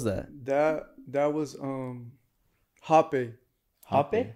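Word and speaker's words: rapé: burned what was that that that was um happy happy it's spelled r-a-p-e but it's pronounced happy happy and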